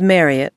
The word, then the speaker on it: Marriot: big smiles and gratefulness her name was Marriot to rhyme with Harriet as Marriot had mentioned